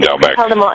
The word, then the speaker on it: Doubek: And Team Doubek and I keep mispronouncing your name, forgive me. It is Doubek. Team Doubek.